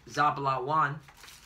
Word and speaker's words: Zebulun: So we're going to Zebulun. Zebulun, all right. Zebulun. Yeah, Zebulun means Zabalawan, which means dwelling, all right?